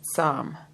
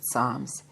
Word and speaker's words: Tsams: And then there's a footnote here, and it says it's written P-T-S-H-A-M-S, and it's pronounced T-S-A-M. I'm going to pronounce it Psalm, so I hope that's correct.